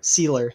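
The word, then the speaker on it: Sieler: All right, and then we've got this defensive line consisting of, it looks like, Raekwon Davis, Christian Wilkins, and is it Cedar? Sealer.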